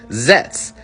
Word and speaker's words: Zeztz: And his very name gives you that clue right off the bat because his common rider name is spelled zez ztz zets.